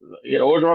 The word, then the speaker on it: Orgeron: How you pronounce that man's name? Orgeron, they probably still paying Les Miles, probably.